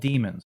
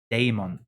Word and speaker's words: daemon: they're called they're called demons but they're spelled daemon it's spelled d-a-e-m-o-n that's damon yeah like damon it's not demon and like the dude